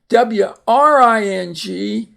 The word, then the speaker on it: wring: W-R-I-N-G is to wring, for example, water out of a washer.